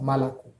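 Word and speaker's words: молоко: Donc, comme l'indique la règle, tous les autres O n'étant pas porteurs de l'accent tonique se prononcent A, d'où le son malako.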